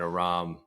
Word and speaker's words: Aram: Because it's like Aaron, but with an M.